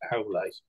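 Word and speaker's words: Aulë: I actually pinched the word from Tolkien. It's one of the Valar in Middle Earth. But apparently that should be pronounced Aule.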